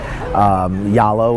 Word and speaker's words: Zalo: It's more like you got to contact them directly, and basically you're going to need to get Yalo, which is the app that is spelled Zalo, Z-A-L-O, but it's pronounced here as Yalo.